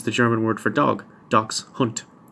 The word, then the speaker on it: dachshund: Dachs hunt. I'm apparently the only person who pronounces it like that. Even the Germans don't, they call it something else. So I might be the only person in the world who pronounces that word, dachshund.